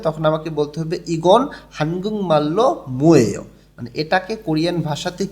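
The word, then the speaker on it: 한국말: ইগন মানে হচ্ছে এটা, হানগুং মাল্য, এখানে উচ্চারণটা হবে হানগুং মাল।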